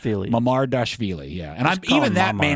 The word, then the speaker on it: Mamardashvili: Pronounce Georgi Marmadashvili's name. Mamardashvili.